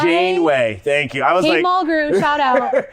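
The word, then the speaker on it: Janeway: the kids oh yeah so which had uh Jean erway in it or what what's no I'm saying it wrong I'm not sure what you're trying to say so uh captain's name oh Jane way Jane way thank you I was likey M shout out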